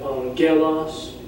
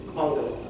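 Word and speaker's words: ἄγγελος: You would not pronounce it angelos. You would not pronounce it angelos. It's angelos. So you see right there. It's stressed on the first letter.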